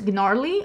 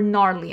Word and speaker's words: Gnarly: This one is Gnarly or Gnarly. I don't think you're supposed to pronounce the G.